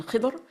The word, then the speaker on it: Khidr: And in fact, his name is pronounced many different ways. You will find the pronunciation Khidr and also Khadir and others also. It is said that there are about 10 different pronunciations of his title.